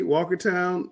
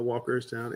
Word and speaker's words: Walkertown: All right, Shelby, Mount Airy, Walkertown. It should be Walkertown, not Walkerstown.